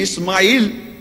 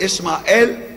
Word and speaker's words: Ismael: he Ismail or Ismael that is the biblical pronunciation in English will be a wild